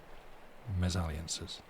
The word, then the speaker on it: misalliances: be no misalliances misalliances I looked up how to pronounce this word it's like aliances mes aliances that's the one something like that however